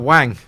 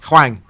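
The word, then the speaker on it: Hwang: pile of wisdom yeah is that Wang is his name is his name right no it's not even Wang you said it was wine look how would you pronounce that Huang it's how I would read it anyway wolves seem to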